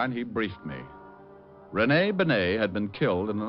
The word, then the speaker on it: Benet: It's pronounced Benet, not Benny. That idiot was calling him Rennie Benny.